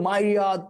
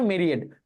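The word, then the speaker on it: myriad: কিন্তু তখন সে বলতেছিল মাইরিয়াদ মাইরিয়াদ এই মাইরিয়াদ কখন যখন প্রচুর পরিমাণ রান করছে তাই না শব্দটার মানে মেরিড এটার উচ্চারণটা মেরিড মেরিড শব্দটার মানে হচ্ছে প্রচুর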